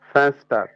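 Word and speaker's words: Fenster: করতে চাই কি হয় আমরা একটু ভেঙ্গে ভেঙ্গে করি তো ফ্যান ফ্যান স্টার ফ্যানস্টার ফ্যানস্টার মানে তো উইন্ডো উইন্ডো তো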